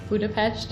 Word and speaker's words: Budapest: She was also the first person who told me that Budapest is pronounced Budapest.